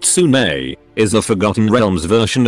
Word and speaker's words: Sune: Soon, pronounced Sune, is the Forgotten Realms version of Aphrodite.